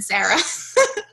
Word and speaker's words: Sarah: no more announcements so sehr if you want to drive in I'm sorry saying my name sir oh okay I'm Sarah so our call today